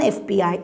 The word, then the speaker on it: FBI: do we say an fbi agent because the letter f has got two sounds a and for f we begin with a vowel sound air so we say an